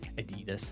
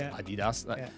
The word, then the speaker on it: Adidas: Look at all these companies that are always pronounced a lot wrong. Nike, Nike, or people say Adidas. It's Adidas.